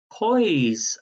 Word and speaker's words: Poise: for the answer is poise magazine and it's spelt as in noise but with a p p o i p-o-i-s-e toys magazine and number 15 which